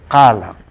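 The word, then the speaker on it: qala: Aquí es cala, se escribe con Q-A-L-A, es cala.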